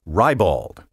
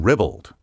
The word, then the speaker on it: ribald: with a pronunciation tip some speakers have adopted the indelicate spelling pronunciation rybald and certain dictionaries that cater to the gross whims of the vulgar masses now record rybald i urge you to eschew this unrefined variant and also to avoid the equally uncultivated ribald there is no rye and there is no bald in ribbled the word should rhyme with scribbled and dribbled and speaking of rhyme